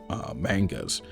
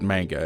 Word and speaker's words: manga: movies, or it was anime, or it was mangas. And yeah, that's right, I pronounce it manga.